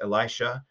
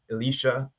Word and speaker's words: Elisha: so just on that, you might hear his name pronounced in different ways. So there's Elisha, there's Elisha, there's Elisha, and maybe something else too. But I typically say Elisha.